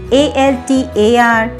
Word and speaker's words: altar: ALTAR, ALTER, with a very minute difference.